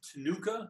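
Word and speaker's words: Ctenucha: flying moth is the veined tanuka that c is silent i don't even know why it's in there that's what the name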